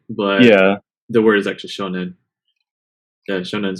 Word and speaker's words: 少年: No, the reading is se, but there's another reading for sho, and shonen is how you say that word. Weird. Okay. The reading changes to sho for some reason.